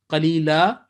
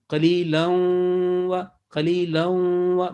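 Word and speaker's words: قليلا: So in this case, qalila, simple, or joining, qalilan wa, merging with nasal sound.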